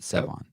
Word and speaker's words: Sevan: My name's Sevan, kind of like Seven, but Sevan.